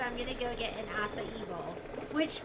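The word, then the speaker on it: açaí: an acai Bowl which when I first when my first daughter first said it I was like oh Akai you are in a kaibo if I didn't know how to say it but I love awesome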